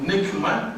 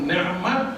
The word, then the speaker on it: ni'mat: Dia kata kalau kita sebut nikmat, maksud dia pada Tuhan. Dia sebut ni'mat, kurniaan Tuhan, dia beza. Dia sebut ni'mat. Tuhuni Aziz bin ni'mat, bukan nikmat.